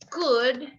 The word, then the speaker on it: could: the year, this would, could, and should has a silent letter. The silent letter is the L. No es wool, wool. No, would, no L. Could, no L.